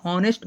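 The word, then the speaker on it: honest: ಇಸ್ ಆನ್ ಆನೆಸ್ಟ್ ಅದು ಆನೆಸ್ಟ್ ಅಲ್ಲ ಆನೆಸ್ಟ್ ಅಂತ ಉಚ್ಚಾರ ಮಾಡಬೇಕು ಶಿ ಇಸ್ ಆನ್ ಆನೆಸ್ಟ್ girl in dash ಕಟ್ಟಿದ್ರೆ ಏನಾಗಬಹುದು ದ ಆಗ್ತದೆ ದ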